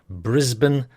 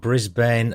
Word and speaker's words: Brisbane: mate, a bit of strong pronunciation. Brisbane, Melbourne, Canberra. Says me, so it's not Brisbane, Melbourne and Canberra then.